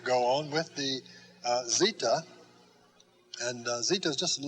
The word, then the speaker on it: zeta: bit down around and that's zita just a z sound z for zeta then after zeeta comes